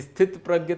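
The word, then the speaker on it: स्थितप्रज्ञ: अब हमको दो जैसे स्थित प्रज्ञ तो मैंने सुना था हां सि वही सि प्रज्ञ पूरा त का उच्चारण पूरा होता है सि प्रज्ञ अच्छा सित में त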